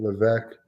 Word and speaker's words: Levesque: conference the the Levesque the S is silent Levesque sorry how do you